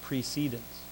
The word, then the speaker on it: precedence: Well, it's actually pronounced precedence in parliamentary terms.